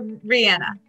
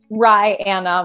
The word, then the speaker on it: Ryanna: Is it Ryanna or Rihanna? Ryanna. Rye, okay. Like the bread, and Anna like the woman's name.